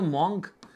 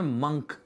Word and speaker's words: monk: अरे सर ये तो मॉन्क, ये तो मैं इसका प्रोनाउंसिएशन का वर्ड मॉन्क नहीं है, इस वर्ड का प्रोनाउंसिएशन है मंक, MUNK मंक, ठीक है।